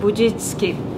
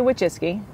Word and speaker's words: Wojcicki: of the matter is nobody knows how to pronounce it I'm here in sunny Mountain View to speak with Susan bitski ah wuis I say wesy um it's probably said a little bit different if you're polish uh but I say